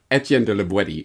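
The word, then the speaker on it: Étienne de La Boétie: with this call them whatever you want but etienne de libweti is apparently the proper pronunciation terrific let's now that we know the author's name let's get into the content starting on page 42.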